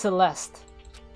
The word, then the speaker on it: Celeste: The E is silent, so it's Celeste.